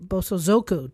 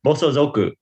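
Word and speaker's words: 暴走族: Bosoo Zoku. What did I say? Zoku, your your inflection was all wrong, Liza.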